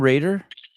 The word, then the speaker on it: Rader: enough Gemma in 2022 is your last name Raider Raider yeah I'm pronouncing it right okay Gemma when in